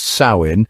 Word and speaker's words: Samhain: Pronounced Samhain, it marked the end of the harvest and the beginning of winter, the dark half of the year.